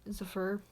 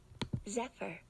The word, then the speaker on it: Zephyr: ap ap debut ep zafur i don't know if i'm pronouncing that right let me let me google that um it's like weird spelling also i didn't mute okay i'll meet with me zephyr zephyr nevermind that's how you pronounce it it's spelled z-e-p-h-y zephyr zephyr that's stupid anyways um